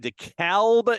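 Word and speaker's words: DeKalb: U from Husky Stadium in dealba Illinois and yes that is the pronunciation the Western Michigan Broncos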